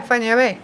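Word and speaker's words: Fañabé: Or Not Fanabi. no, not Fanabi, because as you say, once you learn how to pronounce each letter, Mm-hmm. and Enya is just think of the singer Enya, which is what I always did.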